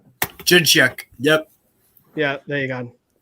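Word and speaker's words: Dzsudzsák: Jacek? It's like DZ. It's like, what? Jidchuk.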